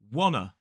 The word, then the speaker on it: wanna: But a lot of people in very, very casual speech say wanna go. Wanna. There's a schwa in wanna.